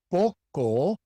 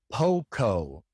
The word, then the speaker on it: poco: It is poco and not poco.